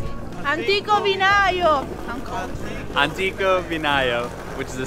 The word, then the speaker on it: Antico Vinaio: Simona, how do I pronounce it? Antico Vinaio!